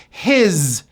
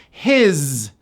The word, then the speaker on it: his: His. Even though this word is spelled with an S, it's pronounced as a Z. His.